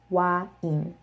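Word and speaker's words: 와인: They essentially deconstructed that, and they pronounce it in two different sounds. So a, I, wa, in, wine, wine. And it sounds pretty similar, just a little slower, I guess, because they're not pronouncing the diphthong. They're pronouncing it as two different vowels.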